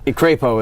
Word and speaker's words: Crapo: Is that how you say it? Or Crapo? Crapo is how.